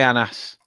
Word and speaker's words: Anas: pronounced it well but it is similar to anas both are Moroccan names if you want to say honest I can say anas not a problem I